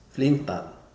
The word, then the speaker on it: Flintan: assemble the flinton chair in Swedish it's probably pronounced flinton I speak Norwegian so that's probably right so once you have